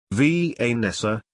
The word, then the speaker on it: Vanessa: She loved the way he pronounced her name, Vanessa, with the accent on the V, making it sound strong and exotic.